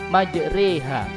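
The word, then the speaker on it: مجراها: Selanjutnya, para pemirsa yang dimuliakan Allah Subhanahu wa taala, kita masuk materi majroha, tulisannya fathah tapi dibaca imalah atau dibaca miring. Sehingga cara membacanya adalah majreha, yaitu bacaan imalah artinya memiringkan bunyi fathah pada kasroh.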